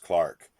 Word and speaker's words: clerk: great goose and ask for the clerk pronounced Clark of the works mr.